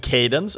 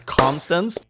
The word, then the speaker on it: Constance: So in the last episode, I did mispronounce the name a little bit. I think I said Cadence, and I'm very sorry for that. This is Constance.